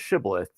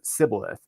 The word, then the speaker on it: shibboleth: than the frameites did and that word was shibboleth they actually pronounced sibilith and so they were authenticating every soldier who